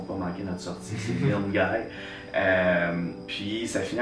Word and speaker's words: Milngavie: Ça s'écrit Milngavie, mais c'est vraiment dans le train, faut pas manquer notre sortie, c'est Milngavie.